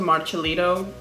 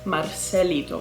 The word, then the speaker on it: Marcelito: literally changed his name to marchalito in the last video that i did so thank you for those of you who corrected me now i know it is marcelito marcelido marcelito if i'm still saying it wrong please correct me but i'm pretty sure